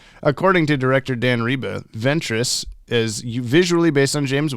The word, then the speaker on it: Ventrix: ventrix with an X in the credits but pronounced Ventress in the episode according to Dan Reba the name Lloyd Ventress comes from the original mirror man Floyd of